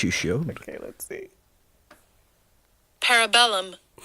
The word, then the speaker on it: Parabellum: Parabellum. Parabellum. Thank you, Siri. Well, I like to say Google. parabolum. I like to say parabellum.